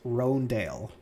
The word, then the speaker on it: Hröndaayl: kind of curious um so you said it's pronounced roandale okay so i'll call it that but i really want to call it uh okay so roandale forest fury six junk seven seven oh sorry